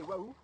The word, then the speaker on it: Oahu: Mais là, dans le dos de Clément, d'ailleurs je ne sais pas s'il l'a vu, il y a l'île de Oahu, qu'on peut aussi prononcer Waouh.